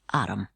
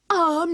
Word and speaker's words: arm: an arum your honor he pronounced it arum an arm you goose who ever